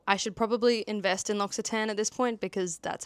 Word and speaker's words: L'Occitane: I've now learned how to say it. It's L'Occitane.